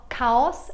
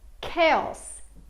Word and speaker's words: chaos: says she says etc cuesta Panola a no cows ma chaos chaos chaos there's a lot of chaos in